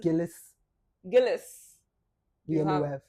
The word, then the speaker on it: Gilles Villeneuve: Now I'm going to butcher the name. Please do forgive me. But Gilles Villeneuve, whatever. Okay. He's Gilles. Villeneuve.